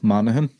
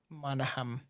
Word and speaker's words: Monaghan: Oh, Monaghan. Monaghan. Okay, so you do the Okay, that's the super soft G.